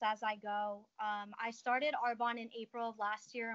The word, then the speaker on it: Arbonne: So let's touch upon your Arbonne, right? That's how you say it, Arbonne, yep.